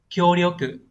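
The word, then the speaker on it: 協力: Chữ hiệp sẽ đọc là kyo có trường âm. Kyoryoku có nghĩa là hợp tác, hiệp lực.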